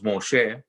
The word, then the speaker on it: Moshe: by another name so the word moshe moses in english the pronunciation and hebrews moshe and the word hashem